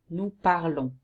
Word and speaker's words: parlons: For nous, which is the correct we, okay, and especially in written, you have to add ons, and you pronounce it on. Nous parlons.